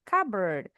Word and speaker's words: cupboard: Bacanya bacanya bukan CBD tapi cover. P-nya silent.